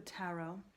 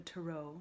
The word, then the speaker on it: tarot: We are staying aligned with our ancestors, and we are going to stick with the tarot, or the tarot, depending on how you pronounce it.